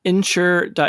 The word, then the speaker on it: nSure: out the the company it's insure which is spelled ns.